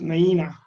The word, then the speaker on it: Nuyina: summary now the story of rsv naina is pronounced naina is a word in the palau language of